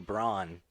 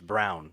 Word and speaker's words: Braun: always forget her name you pronounce her name braun in america or if you're in the west but it's it's brown if you're from if